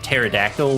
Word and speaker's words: pterodactyl: in 36% room scen silent P's confuse me like why I mean I guess it's a Greek thing but why obviously if I think of pterodactyl without the p in front I'm like that's weird that's why we don't